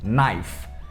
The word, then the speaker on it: knife: Porque tem um K antes, só que esse K é completamente mudo. Então a gente só fala como se começasse no N mesmo.